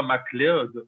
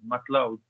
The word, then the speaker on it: MacLeod: Mais par contre, en français, on le prononce vraiment mal parce que c'est pas MacLeod. En anglais, c'est Loud, MacLeod.